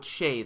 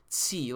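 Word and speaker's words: Tse: I'm going to go with Che this time instead of Tsi like I have been saying.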